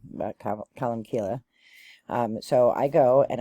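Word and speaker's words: Colmcille: so I go to colum and some people pronounce it colum seal but colum Kila um so I go and I was so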